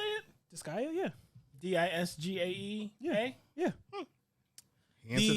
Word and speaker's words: Disgaea: Disgaea, yeah. Disgaea? Yeah. Yeah. Answer that for us. R is silent.